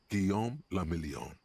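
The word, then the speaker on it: Guillaume Le Million: Giam lameon. If it doesn't rhyme, you're not pronouncing it right.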